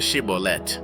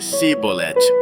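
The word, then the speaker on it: Shibboleth: Eles diziam: "Muito bem, diga Shibolet. Mas se ele dissesse Sibolet porque não conseguia pronunciar a palavra corretamente, eles o agarravam e o matavam nos valquela época, 42.000 efraimitas foram mortos.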